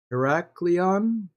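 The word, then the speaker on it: Heraklion: visited yet I would like to get to heracleon that's how you pronounce that but here's the the other island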